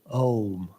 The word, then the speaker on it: Om: But in English and in Sanskrit, it's considered to be a diphthong. That means that during the pronunciation of the vowel, the position of the mouth changes. So, Om.